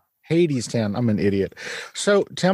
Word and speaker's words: Hadestown: ghost yeah so is it pronounced haidstown or hattiestown how do you say it hades town i'm an idiot so